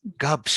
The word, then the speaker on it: Gubsch: say your last name now oh gosh just cups because you see it yeah it's it's it